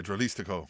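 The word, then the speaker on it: Dralístico: Dralistico? Yeah, Dralistico.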